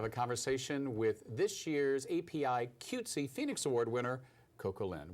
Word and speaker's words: APIQWTC: the queer woman and transgender Community thank you API cutesy I got it yeah now you've been on